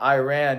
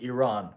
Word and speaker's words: Iran: By the way, it's not Iran. You pronounce it Iran.